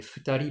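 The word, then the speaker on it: 二人: classificateur numéral nin, hein, mais futari parce qu'ici on a l'exception prononcée en purement japonais.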